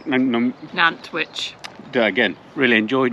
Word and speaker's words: Nantwich: really enjoyed nanwich n n witch do again really enjoyed n witch I still got to say nanwich like sandwich yeah uh we really